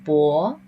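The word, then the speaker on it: 帛: So in ancient Chinese, actually, these characters, we pronounce it bo.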